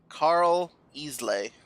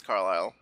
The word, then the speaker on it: Carlisle: I don't think it's Carl Easley. Carl Easley. Maybe. I'm pretty sure it's Carlisle.